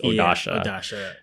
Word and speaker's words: Odasha: their eyebrows are blocked I was mispronouncing odasha's name I thought it was just O A but it's odasha and a couple of